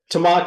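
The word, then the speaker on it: Tamahka: place that he's got if I'm saying this right tahaka am I saying that right tahaka tamaka tamaka is the pronunciation of it tamaka trails and tamaka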